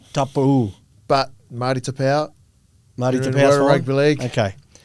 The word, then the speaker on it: Taupau: Well, the proper pronunciation is top. Tap Marti Tapa.